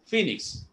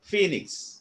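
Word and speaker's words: phoenix: ഇ എൻ ഐ എക്സ്, ഫീനിക്സ്. കിട്ടിയോ? പി പി എച്ച്. അപ്പൊ ആദ്യത്തെ പി അടി ഉച്ചാരണം എങ്ങനെയാ? ഫോഴ്സ് ഉടോടി പറയണം, പി ആദ്യത്തെ പി എച്ച്. അപ്പൊ അതിനെ സൗണ്ട് വരും ഫീനിക്സ്.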